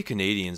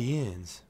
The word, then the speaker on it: Canadiens: You say Canadians, so weird, dude. Montreal Canadiens. That's how it's Canadiens. Pronounced. Canadiens.